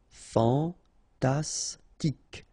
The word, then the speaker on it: fantastique: Fantastique. Okay, Q-U-E at the end, K. Okay, tic. Fantastique.